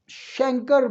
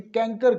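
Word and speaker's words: chancre: इसको बाज़ हमारे बड़े बड़े पढ़े लिखे डॉक्टर भी कैंकर कहते हैं। तो ये शैंकर है बेसिकली, ठीक है। ब्रिटिश प्रोनाउंसिएशन में ये शैंकर, जो CH है शीन की आवाज़ निकालेगा।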